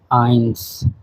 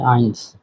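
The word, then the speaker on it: eins: নূলর ওয়ানকে বলা হয় আইনস। ওয়ানকে বলা হয় আইনস।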